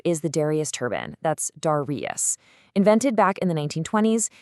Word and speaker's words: Darrieus: That's Darrieus.